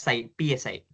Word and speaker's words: psi: This is pronounced as psi.